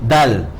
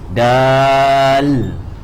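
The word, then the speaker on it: دال: You prolong this at least for 2 harakat. Then you end with the L. That means you end with the lam lah actually. Then you end with the L. Dal.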